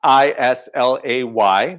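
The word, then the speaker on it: Islay: style of whiskey now isla uh it's spelled i-s-l-a-y but pronounced isla is a particular region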